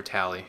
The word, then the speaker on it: Tali: C Tower oh and tal needs to have her level UPS or tally I mean they kind of switch their pronunciations of her name as the series goes on as dumb as that sounds um okay so we